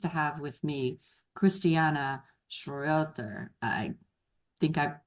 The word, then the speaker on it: Schroeter: Today I am very pleased to have with me Christristiana Schroer. I think I butchered that so sorry. Say your last name. It's Schroer.